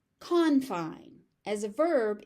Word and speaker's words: confine: So, just keep in mind the stress pattern changes depending on how you are using the word.